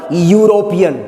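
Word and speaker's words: European: अब देखो ये लिखा हुआ भले ई से है, लेकिन इसका उच्चारण या से शुरू होता है। क्या पढ़ते हैं इसे हम लोग मालूम है, यूरोपियन।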